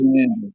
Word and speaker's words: Bataan: pronounce Bataan. the real way to pronounce that in Filipino is Bataan.